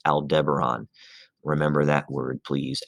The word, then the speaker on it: Aldebaran: bright orange star associated with tauruses it is pronounced aldebaran remember that word please aldebaran and uh it's it's kind of right there